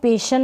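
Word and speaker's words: passion: tension next है suspension फिर है पैशन इसको पेशन ना पढ़े पैशन फिर यह है मिशन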